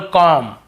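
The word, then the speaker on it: comb: ब का उच्चारण करते लेकिन देखिए एम के बाद यदि बी है तो हमें बी को नहीं पढ़ना है केवल कॉम यहां पर भी बी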